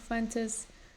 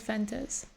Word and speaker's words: Fuentes: Nick Fuentes, not only... I want to pronounce it Fuentes, but he says Fentes. He like barely pronounces all the vowels.